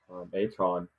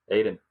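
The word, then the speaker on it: Ayton: So I think that going to a team with Booker and Aton, how do you say his name? Aiden. So common. Sorry. How do you get Aton to Aiden?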